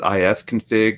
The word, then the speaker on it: ifconfig: some people call it ifconfig some people call it if config it's just potato potato Oh someone else